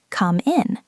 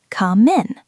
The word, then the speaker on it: come in: They might hear someone say, can I come in? And they hear the word min, M-I-N, and they think, what is a min? But what they are actually hearing is the M from come connecting to the I in. Come in, come in.